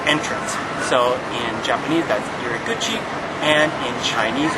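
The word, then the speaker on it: 入口: So in Japanese that's iriguchi, and in Chinese it's ruko.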